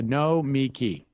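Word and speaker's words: Nomiki: man they're like what i would go no me key and the accent's on the last syllable okay the accents are there so no me key yes perfect no me key it's like an extra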